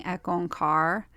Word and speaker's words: Ek Ong Kaar: most powerful morning chant which starts with a long e on car so the E on and car are very drawn out but it creates a